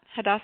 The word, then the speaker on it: Hadassah: Hadassah Healthy Cooking Center?